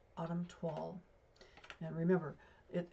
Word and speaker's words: toile: today is called autumn twall. And remember, it it's spelled it's I think it's a French word or something. T O I L E. Uh, it rhymes with fall.